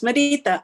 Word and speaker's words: Marita: would be amazing yeah it's marita or mari but marita works fine all right perfect do